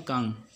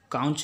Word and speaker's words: conch: ये होता है संख, इसका प्रोनाउंसिएशन है कांग, कांग क्या, कांग, काउंच नहीं कहेंगे, ठीक है, ये यू